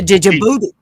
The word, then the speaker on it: Djibouti: The Djibouti. Yeah, D is silent. Djibouti.